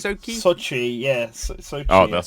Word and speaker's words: Sochi: I don't know how to pronounce it, which is quite embarrassing. I think it's Sochi? like Sochi? Sochi, yeah.